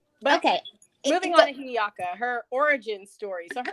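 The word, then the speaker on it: Hiʻiaka: And Pele and wait, can you pronounce her name again for me? Hi'iaka. Hi'iaka.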